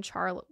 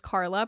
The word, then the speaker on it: Charla: at this point when Charlie her name is spelled like Charla I'm sorry it's Carla but there's an h and so I said Charlie because I'm reading it weird but it's Carla I actually knew somebody